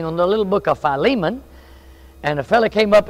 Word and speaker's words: Philemon: the little book of Philemon and a fella came up and said man you need to learn your pronunciation I said well what is he said Philemon I said my soul